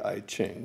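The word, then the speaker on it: I Ching: computerized version of the e gene some people might pronounce that the I chain but it's ancient Chinese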